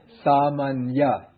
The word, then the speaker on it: sāmañña: first one really becomes just like the ordinary n 因此第一个就变成了普通的“n” and and then the second one is like the ny 第二个就像是“ny” sāmañña well the